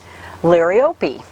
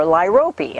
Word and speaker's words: Liriope: And then this one I always have a hard time pronouncing because I've heard it pronounced so many different ways. But this is called a lily turf, or Liriope, or Liriope. I've heard it pronounced all kinds of different ways.